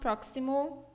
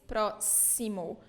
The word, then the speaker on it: próximo: closed process Simone okay and we don't know not proximal or prossimo its próximo as sound here we have a